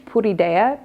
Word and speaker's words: Puridea: So this one, if you want a good recommendation, the brand is, it's made in China, but I pronounce it in Spanish, Puridea, P-U-R-I-D-E-A.